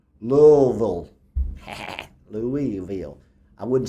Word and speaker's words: Louisville: Apparently, you pronounce Louisville. Well, Louisville.